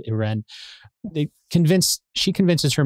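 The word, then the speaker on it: Irène: the older of them I would pronounce it Irene but in the movie they pronounce it it ran they convinced she convinces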